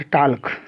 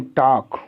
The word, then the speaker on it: talk: अब हम के का लेते हैं, के के साथ देखिए जैसे है TALK, नॉट टाल्क, WALK, वाल्क, टाल्क नहीं टॉक, वाल्क नहीं वॉक।